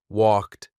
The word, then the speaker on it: walked: Walked, t sound. Say it. Walked.